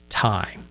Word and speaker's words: Ti: its flagship rtx 3090ti i heard that this has been pronounced both ti and time and then during the nvidia kind of marketing hype about the 30 90. they kept referring to it as tie and so the argument